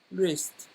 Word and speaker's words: wrist: Sweat on his forehead with a towel tied around his wrist. Around his wrist. The W is not pronounced. Wrist.